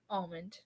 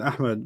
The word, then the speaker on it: Ahmed: If you're watching this, Almond is a lot more syllables than Ahmed, but okay.